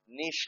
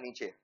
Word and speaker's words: niche: एक होता है फोकस, बोलो नीश लोग के लिए चाहिए। नीश का स्पेलिंग होता है नीचे, NICHE, कुछ बच्चे इसको नीच बोल देते हैं।